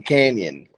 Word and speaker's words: Kanion: hey my name is Brandon Canyon like the Grand Canyon but instead of like